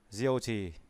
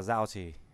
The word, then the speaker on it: Diêu Trì: Diêu Trì cũng đọc là Giao Trì.